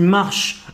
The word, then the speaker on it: marches: Marche, non, tu marches. في آخر الكلمة يكتب ولا ينطق.